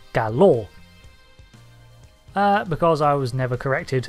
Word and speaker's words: Galor: from Star Trek as gay law when they are and should be pronounced as galore because I was never